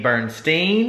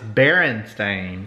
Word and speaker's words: Berenstain: I think and here oh I've been saying it wrong this whole time it's Berenstain no baron there's no way BER II and Baron there's no and I think